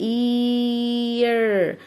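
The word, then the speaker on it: ear: حرف الاي الطبيعي ان احنا بننطقه ايه مش سامع حاجة، بس انا هنا هقول اسمه اللي هو ايه عشان جاي جنبها صاحبتها الاي، يبقى الاي لما يجي وراها صاحبتها الاي اقول ايه، يبقى اير. الاذن اسمها اير.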